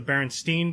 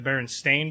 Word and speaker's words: Berenstain: other no no because who would think to say stain is the way it's spelled exactly it'll do a